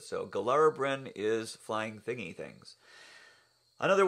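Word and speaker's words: Gilarabrywn: Another problem child has always been the flying thingy thing, which is actually pronounced Gilarabrin. The Y at the end of that is sort of a Welsh sound to it. So Gilarabrin is flying thingy things.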